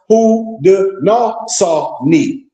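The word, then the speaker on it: Haudenosaunee: The people of the Iricquist Confederacy, watch this, also known as the Six Nations, also known as the Six Nations, refer to themselves as pronounced Hawi.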